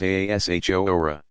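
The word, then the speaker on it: Ashura: 10th of the month akira pronounced Aasha hora possibly paralleling the Jewish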